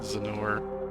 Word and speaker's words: Zennor: I've always thought Zennor is a funny name. It sounds like Lenore. Hey, I am pronouncing it right.